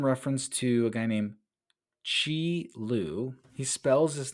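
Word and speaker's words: Qi Lu: that is in reference to a guy named Chi L he spells his name Qi last name Lu but it's pronounced Chi l so this but before we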